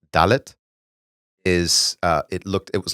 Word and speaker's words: dalet: But in Hebrew, the letter D, dalet, sounds like the word delet, which means door.